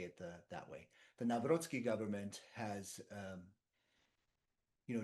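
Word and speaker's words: Nawrocki: I I have a a very big connection with Poland and the Navroski government, which I believe President Trump calls Naraki. Um, but that's the way we would pronounce it in the United States.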